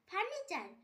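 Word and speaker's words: furniture: ফার্নিচার, FUR ফার, NINE ফার্নি, TURE চার ফার্নিচার। এখানেও টি এর পর ইউ আছে তাই টি এর উচ্চারণ চ হবে।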